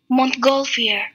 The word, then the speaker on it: Montgolfier: how to pronounce them Montgolfier ah yes okay so the Montgolfier brothers and the mongolia brothers